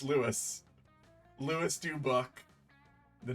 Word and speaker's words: Lewis: there we go yeah it is literally just Louis spelled slightly differently but it's Lewis Lewis du book the